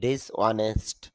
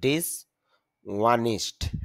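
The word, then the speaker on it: dishonest: ডিসঅনেস্ট এই উচ্চারণটা আমরা সচরাচর বলি ডিসঅনেস্ট, অনেস্ট ম্যান, তবে শুদ্ধটা হলো ডিসওয়ানিস্ট। ডিসওয়ানিস্ট নিস্ট, কারণ আইপিএতে দেখতে পাচ্ছি নয়ের পরে ই সাউন্ড, নিস্ট।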